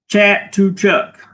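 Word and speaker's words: Chatuchak: Chat to Chuck is how you pronounce it.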